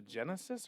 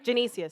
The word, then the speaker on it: Genesius: Is it the Genesis or Genesis. Genesis Theater? Genesius. Sorry.